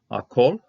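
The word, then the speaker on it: הַכֹּל: Ha-kol, kamatz hatuf here, closed syllable, no accent thing, so it's going to be o sound.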